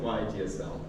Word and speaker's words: YAGSL: Do you guys have any opinion about the pronunciation YASS? I pronounce it YGSL.